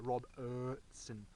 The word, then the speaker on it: Robertson: I'm Robertson, Robertson, not I-R-E-R, Robertson is how you say it.